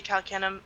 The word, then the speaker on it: Calcanum: Kalkinum? How do did I say it right? It's pronounced and is phonetically supposed to be Calcanum.